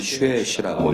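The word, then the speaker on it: 学习: 공부를 뭐라고 할까요 어 한자로는 학습이라고 하고요 읽을 때는 쉬시라고 읽어요 그래서 학습이라는 단어로 통일되어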